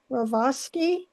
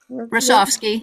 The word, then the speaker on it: Rasovsky: rural conservation land, Judy Ravosky, am I pronouncing that right? The chair of our conservation. Rasovsky, yep.